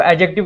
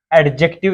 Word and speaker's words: adjective: देखो, एडजेक्टिव किसे कहते हैं। फर्स्ट ऑफ ऑल तो ये देखें कि इसको एडजेक्टिव नहीं पढ़ते, एडजेक्टिव पढ़ते हैं। इसका डी साइलेंट रहता है।